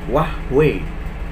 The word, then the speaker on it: Huawei: apa itu contohnya ya Huawei Huawei Hai Keh ternyata ini dibacanya Wah weh weh weh weh weh seperti itu kemudian Asus Asus Yesus